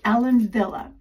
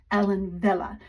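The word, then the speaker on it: Ellen Wille: is link this is Ellen Villa if you don't know over in the Netherlands and in Germany a w is pronounced in English like a V so that's why we say Ellen Villa is because over there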